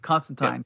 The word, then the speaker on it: Constantine: Constantine and from Swamp Thing thank you for pronouncing it correctly yes you're right Constantine go ahead sir they did incorporate these characters